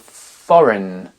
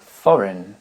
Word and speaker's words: foreign: continue avec le G la consonne G qui ne se prononce pas dans les mots foreign qui veut dire étranger foreign design design champag également